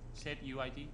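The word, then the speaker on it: setuid: how you say it so you it city set UID UID thank you said UID comment in the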